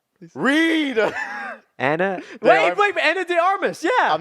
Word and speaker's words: Ana de Armas: Anna de Armas. Yeah. I'm not spending a bit on this. Okay. Yeah, Ana de Armas.